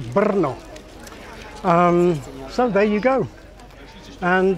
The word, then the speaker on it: Brno: The same thing happens to the trill R, as in the name of the city, Brno.